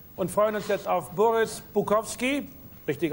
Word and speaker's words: Boris Bukowski: Wir verabschieden uns hier aus dem Hotel Intercontinental und freuen uns jetzt auf Boris Bukowski, richtig ausgesprochen, mit dem Vergleich einer schönen Frau und Kokain.